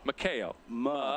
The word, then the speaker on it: Mikhail: How do you say that, Mikhail or I was asking him before the game. He's like, everybody says it wrong. It's Yeah. Mikhail. Mikhail. But it's like M-U-H.